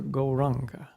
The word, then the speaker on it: Gauranga: very easy to remember gauranga ranga we divide gorunga into four syllables for this meditation so